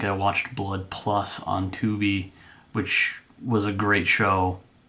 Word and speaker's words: Tubi: the last well second to last service is 2b that is spelled t-u-b-i it is 100 free streams free